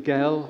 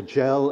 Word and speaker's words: Gell: on these two characters william gail or gel as i think i should pronounce it william gell and edward